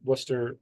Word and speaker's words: Worcester: Woo Sox up in Worcester, Massachusetts. Yes, you say it Worcester if you're from New England. Worcester is how it's spelled.